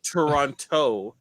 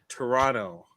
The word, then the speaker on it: Toronto: It's not Toronto, like TOE. It's Toronto. Or some people say. Some people call it Toronto. Toronto. They still don't pronounce the second T.